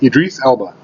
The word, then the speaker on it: Idris Elba: Idris Elba, yes.